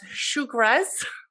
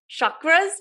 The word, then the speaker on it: chakra: pronounce it correctly so i think you pronounce it as shukras chakras shukras chukras shukras i don't know sugar chakras sugars for me it's easier to say chakras does it really matter